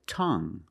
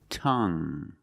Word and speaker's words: tongue: And we have this word, tongue. The UE at the end is silent, so we pronounce it like young. Tongue.